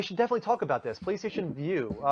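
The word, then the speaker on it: PlayStation Vue: PlayStation View. Just like, VIEW, they just changed the spelling on us.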